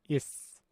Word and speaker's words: is: 식으로 발음이 되기 때문에 이 발음을 하고 뒤에다가 스를 붙입니다. is 그런 느낌으로 발음을 하시면 됩니다. 왜냐면 이미 it의 발음에서 그 터트릴 그 소리가 이미 그 입천장에 혀가 붙었기 때문에 뒤에다가 스만 발음을 해줘도 괜찮습니다. is 그래도 소리가 충분히 트가 터져도 나옵니다.